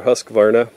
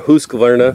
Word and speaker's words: Husqvarna: This is basically the same toolbox that you can get from, it's either Steel or Husqvarna, or Husqvarna, depending on how you say it where you live.